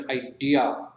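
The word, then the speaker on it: idea: ठीक है, जैसे कि इन जनरल हम लोग आइडिया कहते हैं, जबकि आइडिया एक्चुअल में आइडिया, राइट। तो वहां पर स्ट्रेस कहाँ जा रहा है, आई।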